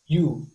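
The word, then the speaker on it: 湯: Di bahasa Jepang cara bacanya yu.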